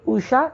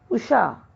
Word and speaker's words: उषा: वैसे ही उषा गलत है उषा।